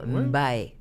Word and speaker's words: Mbaye: Mbaye. Non, Mbaye. C'est vrai, Tu le prononces ou pas?